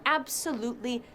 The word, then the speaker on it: absolutely: They are absolutely necessary. What? Did you just say to me that the flowers are not absolutely necessary? ¿Te lo puedes creer? Me ha dicho absolutely. Absolutely se pronuncia con 4 sílabas.